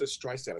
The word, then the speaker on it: Streisand: She goes, Streisand, a soft S.